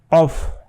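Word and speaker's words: ق: কফ ভিতর থেকে এটা হা আমার সাথে সাথে বলেন হা আর নিচের এই যে কফটা আছে এটা একদম ভিতরের দিকে কলকলার ধ্বনি যেহেতু ভিতর দিকে আসতে হবে কফ আশা করছি যে আরবিতের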